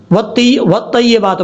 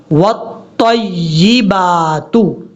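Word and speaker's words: والطيبات: ہیں، ایسا نہیں کرنا۔ کیسے پڑھنا ہے، واو کو تا سے ملانا ہے، پھر تا کو یا سے ملانا ہے، واو تا زبر وت، تا یا زبر طی، یا زر جی، طی، والطیبات، یہ ہے اس کا پڑھنے کا اصل طریقہ۔ اب اس کے بعد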